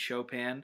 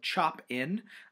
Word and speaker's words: Chopin: youtube videos about kate chopin uh that's right it's spelled chop in um but it's pronounced chopin because it's rather french just like the story